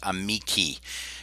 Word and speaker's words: amici: So that AE has the I sound in classical pronunciation, and the long I has the E sound.